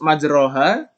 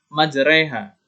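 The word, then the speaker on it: مجراها: cara memiringkan huruf roknya Eh kalau di sini terus majroha maka kita membacanya adalah majreha disini kalimat lengkapnya adalah Bismillahirrohmanirrohim aursati jadi majreha wa mursaha bukan majroha mursaha jadi yang dimiringkan oleh huruf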